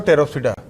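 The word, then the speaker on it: Pteropsida: साइलोप्सिडा, लाइकोप्सिडा, स्फिनोप्सिडा और टेरोप्सिडा। पी यहाँ पे सब में साइलेंट है, यहाँ भी और यहाँ भी पी साइलेंट है ना, पी टेरिडोफाइटा बोलते हैं।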